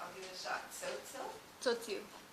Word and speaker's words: Tzotzil: And I don't know how to pronounce this, but I'll give it a shot. Tzotzil? Tzotzil.